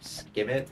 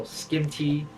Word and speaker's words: Skimmit: For those of you that don't know, my name is pronounced Skimmit. It's pronounced Skimmit. However, some people call Skimty, Skimte, stuff like that.